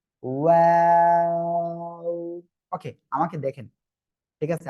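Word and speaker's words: و: ওয়াও, দুই ঠোঁট শুরুতেও গোল হবে, শেষেও গোল হবে।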